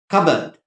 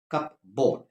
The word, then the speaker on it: cupboard: we have everyone probably has in the house cupboard it is not cupboard it is spelled that way compound cupboard cup board but it's pronounced cupboard when your kids there